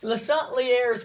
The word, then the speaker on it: Le Chatelier: and we've already said if you say it like the french people do it almost sounds like a bad word in english so we're just going to say it the uh dallas georgia salt lear's principle that's very dallas okay